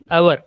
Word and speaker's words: hour: HOUR, our, right? In correct phonetic sound, we used hours, 6 hours, 2 hours, 4 hours, like that. So we don't pronounce H. H is silent here.